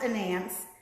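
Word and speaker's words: Anansi: Her name is pronounced Anance.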